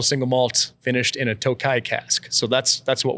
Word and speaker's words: Tokaji: to follow suit with how they pronounce it where it's made in Hungary and the videos that I could find on it they were they all pronounced it Tokai and so um I